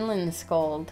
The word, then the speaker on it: Lindskold: Kol D, the Berry Pyramid by Jane Lindscold.